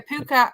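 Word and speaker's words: púca: So it's a puka, or it's spelled Pooka, or as Pu Fada CA.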